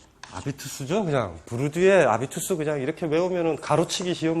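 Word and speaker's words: habitus: 일단은 이제 아비투스 개념에 대해서 우리가 이제 숙고를 하는 건데 이 아비투스는 이제 이 불어로 읽는 거잖아요. 불어가 H가 묵음이잖아요. 불어에서는.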